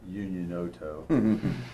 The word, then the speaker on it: Unioto: Those that live in Unioto pronounce it Unioto. Believe it or not, there's not an N, but they say Unioto.